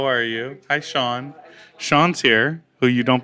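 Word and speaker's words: Shaan: She's convinced your name is Shan. I'm just saying. It's not. See? From the horse. Spelled, No. It's spelled S-H-A-A-N. All right, leave it It's alone. spelled- And that's how you say Shan. No, Sean. Sean.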